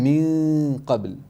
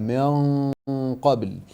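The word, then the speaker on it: من قبل: And when you said min qabl, you said min qabl. You made it empty mouth where here it should have been a full mouth ghunna, min qabl.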